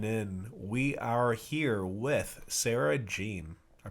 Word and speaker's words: Sarah Jeanne: We are here with Sarah Jeanne. I pronounced it right?